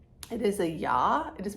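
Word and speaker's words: Я: English like a backwards r it is a yaw it is pronounced ya in most well I said that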